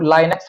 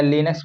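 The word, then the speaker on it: Linux: तो लाइनक्स भी इसको पढ़ते हैं या लिनक्स पढ़ सकते हैं, तो लिनक्स टर्वाल्डस, ठीक है।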